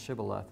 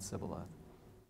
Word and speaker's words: shibboleth: they ought to be pronounced shibboleth and not sibylla if the shibala test